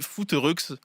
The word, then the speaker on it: Footeureuxses: Le sport que vous pratiquez ensemble, c'est le football via la section les foot rux. Je l'ai bien prononcé.